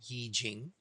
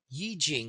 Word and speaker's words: I Ching: It's spelled like the letter I, and then Ching, Yi Jing.